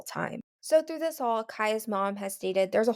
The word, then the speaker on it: Cieha: They have their Facebook page, which is Finding Kaya, and like I said earlier, it's spelled Cieha.